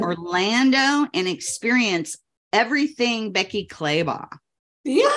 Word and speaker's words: Clabaugh: business yeah sure so I um and Becky claybaugh it's it's pronounced like a y so you did a